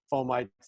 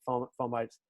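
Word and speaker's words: fomites: we just said about foam mites i had mispronounced it foam bites that those probably are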